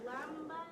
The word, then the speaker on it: Islamabad: I don't know how to pronounce it. Islamabad?